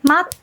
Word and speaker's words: 待って: But if you say matte, then that's a friendly request.